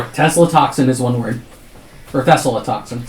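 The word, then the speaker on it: Thessaltoxin: I have to say I have to spell it. T H E T H E double S A L then toxin and then antidote.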